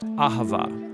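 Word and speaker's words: אהבה: It's pronounced ahava.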